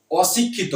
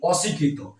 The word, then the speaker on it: অশিক্ষিত: কি আমরা কি বলি অশিক্ষিত অর্থাৎ শিক্ষিত মানে কি এখানে অশিক্ষিত অর্থ কি যে শিক্ষিত নয় অর্থাৎ নাবাচকে নাবাচকের শব্দের ক্ষেত্রে কিন্তু সবসময় কিন্তু অ এর উচ্চারণটা অই থাকে কিন্তু অন্যান্য শব্দের ক্ষেত্রে